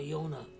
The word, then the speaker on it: Jonah: his great-grandfather Jonah Jonah in German and other languages the J is pronounced like a y so in in public school in Germany he was called Yona but in yish he